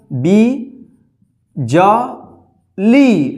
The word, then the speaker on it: बिजली: देखिए बी ब में छोटी की मात्रा का उच्चारण हो रहा है, बी ज ली ल में बड़ी ई की मात्रा, क्या हो गया बिजली।